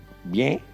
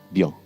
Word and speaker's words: bien: Então, é a mesma palavra, é o mesmo significado, escreve igual, só que aqui a gente fala aberto, bien, e na França a gente fala mais fechado, bien.